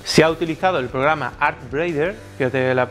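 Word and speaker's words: Artbreeder: fin todos estos se ha utilizado el programa Art braider fíjate la pronunciación eh Art braider Art braider Art braider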